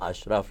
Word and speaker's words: Ashraf: Ashraf, you pronounced it perfect.